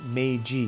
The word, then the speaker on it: Meiji: And Platypus, Meiji is actually pronounced Meiji.